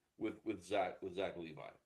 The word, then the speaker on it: Levi: Gemini says that he pronounces Levi like revive or sky, right?